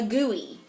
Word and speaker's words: GUI: you might ask well it's pronounced Au gooey funny right yes uh